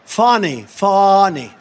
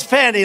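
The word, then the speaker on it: Fani: And not only that, all these local cases like Fawny. It's spelled Fanny. It's spelled Fanny like your ass, right, Fanny? But when she became DA, she decided to add a little French, a little fancy, Fawny, and, you know, Fawny and Mr.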